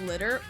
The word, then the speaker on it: Liter: games now you should know that leader is pronounced litter which d drives me crazy because the way that it's spelled is liter and litter has two te's that drives me crazy every